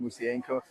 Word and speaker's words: Musienko: My last name is actually pronounced Musienko, so it's Musienko.